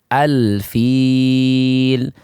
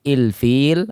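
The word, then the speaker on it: الفيل: Contohnya al-bab, al-fil, alhamd. Tidak ada yang dibaca ilbab atau ulbab atau ilfil atau alfil atau ulfil. Tidak dibaca seperti itu, akan tapi semuanya dibaca fathah al semuanya.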